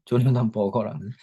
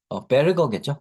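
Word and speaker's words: Berger: 스탠포드 대학의 조나단 버거라는 이름이죠. 물론 철자는 다르지만 조나단 베르거겠죠. 베르거. 그 독일에서 온 이름 스타일이 베르크가 우리 어 그니까 그죠? 음, 독일어에서 온 이름인데 아마 영어식 발음으로 버거라고 하겠죠. 그죠?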